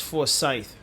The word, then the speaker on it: Forsyth: It's Forsyth County. I pronounced it wrong earlier.